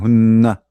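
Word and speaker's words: هنّ: When we use hunna, I will make the nu twice to make you sure that this is two n. I mean, like as a pronunciation, hunna.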